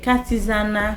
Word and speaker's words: Katizana: OK, Katizana c'est K-A-T-I-Z-A-N-A en créole, j'en prononce qui c'est K-A-T-I-Z-A-N-A.